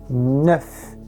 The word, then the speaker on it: neuf: Prestem atenção na minha boca, neuf. O F é pronunciado, então a gente vai dizer neuf garçons, 9 meninos, ou neuf filles, 9 meninas.